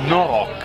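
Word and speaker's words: noroc: Non si dice prost, perché qua è no, una parolaccia. Prost è una parolaccia, si dice no rock. No salute rock. Quando fai il brindisi. No rock in romeno.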